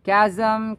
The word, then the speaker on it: chasm: degradation he found degradation km chasm chasm ch is pronounced as k as in km km